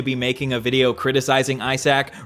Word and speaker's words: Isaac: In America, we would pronounce his name Isaac, but in Australia, it's pronounced Isaac, like a sack of eyes.